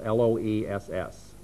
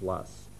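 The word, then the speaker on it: loess: referred to us a lus soil and lus is spelled l SS now the T would be to pronounce that as l s but the correct pronunciation is lus and the Poo soil series formation is an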